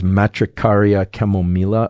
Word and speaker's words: Matricaria chamomilla: I think the proper pronunciation of this is Matricaria chamomilla, although I always feel like I should be using a Spanish accent whenever I say something like that.